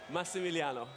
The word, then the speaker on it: Massimiliano: Max, I ask you respectfully, how did I do Massimiliano? I can, your pronunciation? Yes. Are you from Is it Dubuque, close? Iowa? You say it. Massimiliano.